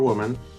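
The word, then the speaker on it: 我们: of it here we have the radical for woman but the pronunciation is the same as he so we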